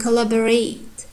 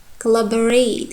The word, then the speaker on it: collaborate: And collaborate, collaborate. Here you can see two sounds became schwa. O sounds, collaborate. I'm not pronouncing like collaborate. I'm pronouncing collaborate, collaborate.